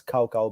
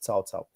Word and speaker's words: Cao Cao: so it's you you might read it as cow cow but actually it's pronounced salsao um so no I I love TaoTao from